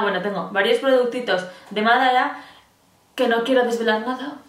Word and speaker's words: Madara: Madara, que lleva tilde en la A, en la primera A.